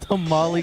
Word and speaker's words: tamal: Say it like a true Mexican. Tamal.